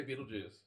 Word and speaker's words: Betelgeuse: brightest stars in Orion is the famous star Betelgeuse. Betelgeuse. How different pronunciations. It's the armpit of Orion, or his right shoulder. How do you say it, Mike? I say Beetlejuice.